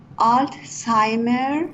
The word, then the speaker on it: Alzheimer: you see a sign pronunciation is Alzheimer Alzheimer yes is a Germanic word you know it's Germanic